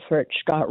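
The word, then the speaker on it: Furchgott: It's Furch Scott. 3 syllables, just like Obama.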